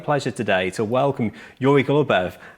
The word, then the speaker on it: Goloubev: I've just pronounced your surname wrong, I think. Is it Goloubev? Yes.